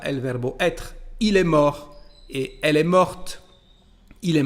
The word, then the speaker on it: morte: Il est mort et elle est morte. Il est mort, elle est morte. Como lo pueden ver aquí, la pronunciación del participio pasado forma femenina es diferente.